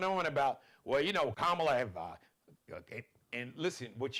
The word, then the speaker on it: Kamala: So pronounce it, think of comma, like a comma, like her nieces at the Democratic National Convention, 2 syllables.